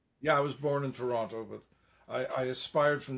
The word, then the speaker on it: Toronto: But you don't say Toronto like most people I know from Toronto. They say Toronto, they don't pronounce the T.